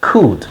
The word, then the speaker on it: could: could now could to could this L is not pronounced we say could could you could be right